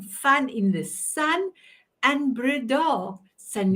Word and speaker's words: Breda: And Breda, Sanet Breda. Okay, that was, yeah, I put the emphasis on the wrong syllable.